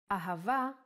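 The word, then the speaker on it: אהבה: The word ahava uses it in both ways. When hey appears in the end of the word, it will always sound as a. Ahava is love in Hebrew.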